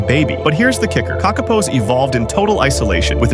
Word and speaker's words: Kakapo: The Kakapo, pronounced Kakapo, is not just rare, it's one of a kind.